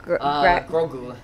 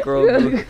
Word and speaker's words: Grogu: how to, if you want, how do you pronounce this brand? Grogu. Or Grogu. Grogu. Sorry, guys. That's a Star Wars character. I just bumped my head. Greco. Greco. Grogu, guys. Grogu.